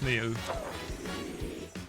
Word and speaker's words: Neil: I know they're spelled with a 5, but it is Neil.